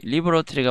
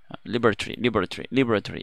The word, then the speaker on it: laboratory: laboratory가 맞을까요? 리버러토리랑 레이버러토리가 있는데 둘 다 맞아요. 리버러토리는 laboratory 이거는 영국 발음이고요. laboratory 이러면 영국 발음이 아니 미국 발음이 되겠습니다.